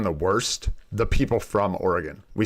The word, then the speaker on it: Oregon: weird accent because like if you look at how it's spelt and how it should be pronounced, it is Oregon, right? Oregon. That is how you would say it.